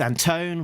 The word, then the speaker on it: Anton: Um, Sabrina Delgroso, uh, letterer Pat Brusso, um, and editor Alex Anton, wait, Alex Anton, rhymes with phone, uh, publication design Jillian Crab, uh, production designer, Richard Marcado, and creative consultant is Diana Davis.